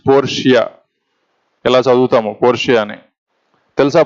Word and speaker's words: Portia: Don't pronounce it as Portia. Okay, it is Portia.